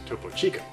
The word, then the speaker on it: Topo Chico: avocados whatever broccoli some roids in Texas it's pronounced topo Chico okay well that is a lot of stuff